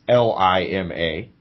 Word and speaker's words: Lima: Anyway, Lima, like the lima bean, as the locals I talk to know it.